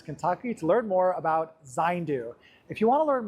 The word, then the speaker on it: Zayndu: Well, thanks so much everyone for joining me here at 80acres Farms in Florence, Kentucky to learn more about Zindu.